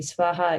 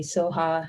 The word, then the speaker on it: svaha: that seven times so that last syllable you'll hear it pronounced different ways it can be swaha it can be soha it depends on who's saying it so um one is a very traditional way according to the original sanskrit and the other is